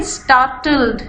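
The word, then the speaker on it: startled: गौर से सुन लीजिए स्टार्टल्ड इसमें आर साइलेंट है नहीं प्रोनाउंस करेंगे और एल को भी बिल्कुल थोड़ा सा प्रोनाउंस करेंगे स्टार्टल्ड स्टार्टल्ड का मतलब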